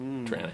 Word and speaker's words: Toronto: You know you're a local Torontonian if you don't pronounce the T. So I've heard. Piranha. Tranna.